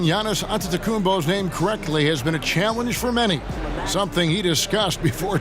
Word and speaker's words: Antetokounmpo: be right back after this you and pronouncing Giannis antetokounmpo many something he discussed before today's game the